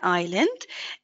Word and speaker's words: island: word Ireland good so we don't pronounce the S we don't say island or iseland it's simply an island and if I just